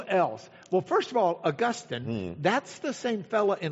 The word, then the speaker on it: Augustine: If you really want to know how to say his name and not sound like you're from Lach, uh it's Augustine.